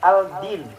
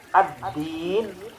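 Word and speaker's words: الدين: Berarti nanti bacanya kita membaca dengan bacaan yang benar, bukan baca al-din, tapi ad-din. L-nya hilang. Ad-din.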